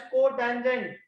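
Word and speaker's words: cot: That is cotangent. लिखते हम लोग बोलते हैं, प्रोनाउंस हम कॉट ही बोलते हैं, फुल फॉर्म होती है कोटेंजेंट।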